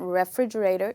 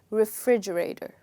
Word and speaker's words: refrigerator: look at this carefully the first part is not pronounced as ra it's not refrigerator you would say refrigerator okay now this word has five syllables it has five parts so this is the